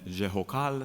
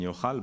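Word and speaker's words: Jehucal: You would say Gedaliah, son of Pashhur, and Jehokal, son of Shelemiah, right? But it's really Gedaliah, son of Pashhur, Gedaliah ben Pashhur, and Yochal ben Shalmiah.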